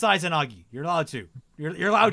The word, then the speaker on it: Izanagi: Izanagi is pronounced Izanagi.